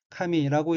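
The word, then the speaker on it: 髪: 다음 어휘는 한자가 탈옥발자이고 일본어로는 카미라고 읽으며 카미는 머리, 머리털, 머리카락이란 뜻입니다.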